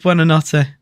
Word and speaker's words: Buonanotte: I just know it's pronounced Buonanotte.